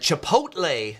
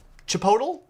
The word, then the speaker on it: Chipotle: famous for their burritos is not pronounced like it is spelled Chipotle Chipotle might be how you pronounce that but much of the USA used to be Mexico and so many words